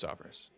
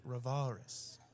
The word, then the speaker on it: Rovaris: saying my last name wrong? I've told you a million times it's Rovaris.